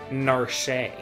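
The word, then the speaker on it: Narshe: time to get her out of narsh or as some pronounce it narshay i think it's a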